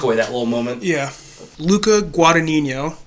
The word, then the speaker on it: Luca Guadagnino: that little moment yeah Luca Guadagnino that's how you say it Mike Luca Guadagnino Luca